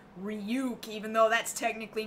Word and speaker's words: Ryuk: I'm 90% confident they're going to pronounce his name ruk uh maybe not duuke this really like loose ruk that's fine yeah like I'll live with with this really native North American sounding ryuk even though that's technically